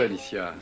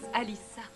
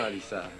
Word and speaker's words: Alicia: Ah oui, c'est très courageux, Alicia. Ça se prononce Alissa. Oh, je suis désolé. C'est intéressant, Alissa. Et oui, je croyais que c'était Sia. Ah. Mais Alissa, il n'y a pas de Sia.